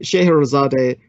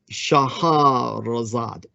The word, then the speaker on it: Shahrazad: And Scheherazade, her real name would be Shahrazad. And as for Shahrazad being even more accurate, the Shahrazad is the Shahrazad. That would be the more poetic Arabic pronunciation of her name.